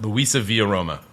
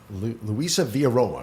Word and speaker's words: LUISAVIAROMA: LUISAVIAROMA, did I pronounce it? LUISAVIAROMA. LUISAVIAROMA, yes.